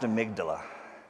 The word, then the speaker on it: amygdala: gee dalla that's how to spell it it's pronounced amygdala we just say the word of Migdal uh